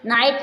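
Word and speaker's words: knight: स्लाइट means तनि coat coat means पकड़ा जी silent है ब्रॉड ब्रॉट मींस लाया लफ लफ लाफ मींस हसना माइट माइट मींस शक्ति नाइट नाइट मींस योद्धा गुड नाइट होती है गु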